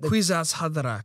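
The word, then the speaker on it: Kwisatz: also the quats how do you say it quizat thank you Jason with the name Jason is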